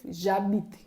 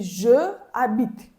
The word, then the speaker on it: j'habite: Okay, and also it works with H muet, H letter. You will say, I live, j'habite. Normally it should be je habite. But no, in French you need to say j'habite.